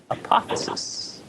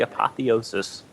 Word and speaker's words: apotheosis: would have to be hypothesis why explain why aren't you aren't you saying that wrong I am saying it wrong and I'm saying it wrong yes it's actually apotheosis and uh that for